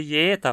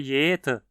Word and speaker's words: jeder: É muito frequente, nesse caso, que se ouça jeta e não jeta.